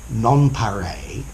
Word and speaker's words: Nonpareil: Ideal, Nonpareil, notice the pronunciation, Nonpareil, Epitome, Paragon, Apotheosis, and Quintessence.